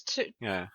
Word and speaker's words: Tudyk: There's no, it's got no R in it. It's Tudyk.